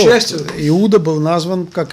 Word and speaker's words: Иуда: Правильное произношение этого слова – Иуда.